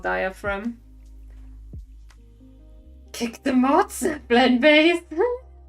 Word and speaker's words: diaphragm: I always felt like it sounded weird, but it's called diaphragm. Kick the mods. Blend base. Diaphragm. Redeemed mod hate. It's like salmon all over again. Diaphragm. Okay. And it's not pronounced phlegm, it's pronounced phlegm.